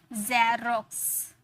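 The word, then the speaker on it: Xerox: यही तो हम लोगों ने सीखा ना कि अगर लास्ट में आया तो उसे कस में प्रोनाउंस करेंगे और अगर शुरू में आया तो उसे ज में प्रोनाउंस किए, तो जेरोक्स, जेरोक्स, सॉरी जेरोक्स।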